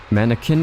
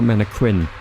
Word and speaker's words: mannequin: I I don't know that you pronounce the the U in that word. I think it comes from French. So you probably mannequin. Yeah, you don't. Yeah, because it's from French.